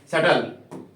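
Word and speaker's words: subtle: पड़ेगा आपको बी को सटल है ना सटल यहां पे भी बी क्या है आपके साइलेंट है चलिए अगले पॉइंट के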